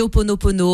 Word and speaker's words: Ho'oponopono: Comment vous prononcez? Oui, on dit Ho'oponopono.